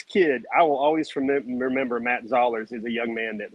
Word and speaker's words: Zollers: Matt Zollers, rhymes with dollars.